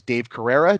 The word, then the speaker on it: Dave Carrera: His name is Dave Carrera. Did I pronounce that correctly?